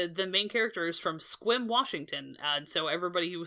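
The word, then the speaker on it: Sequim: It's also very the main character is from Squim, Washington, and so everybody who saw that movie now knows how to pronounce Squim, Washington.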